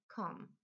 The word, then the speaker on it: come: problem z tym czasownikiem czasie przeszłym wymawiamy tą Came w czasie teraźniejszym czy formę podstawową wymawiamy com i tak samo trzecia